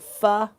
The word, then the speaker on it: pho: If you like fu, you know fu, it's spelled ph, but it's spelled fu, which the way I remember spelling fu is ph.